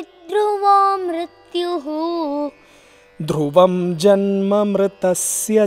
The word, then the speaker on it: मृतस्य: मृदस्य च, मृदस्य च, it is मृतस्य च, मृतस्य च। ता should be pronounced ता, ता, ता, मृतस्य च, मृतस्य च।